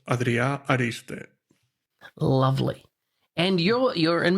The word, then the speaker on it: Adrià Ariste: it right yeah so my name is pronounced adria ariste lovely and you're you're